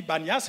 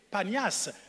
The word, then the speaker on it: Panias: On dit Banias à cause de la difficulté de prononcer le P. Panias.